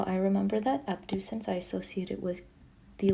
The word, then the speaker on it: abducens: nerve number six is abducens abducens sounds like the word um to like abduction to take away abducens and uh remember that